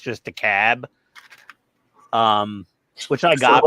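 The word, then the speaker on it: DeKalb: e k lb but no one pronounces the L it's just a cab um which I got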